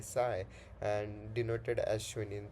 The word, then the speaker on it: psi: Schrodinger's equation gives us a variable which is pronounced as the psi and denoted as shown in the figure.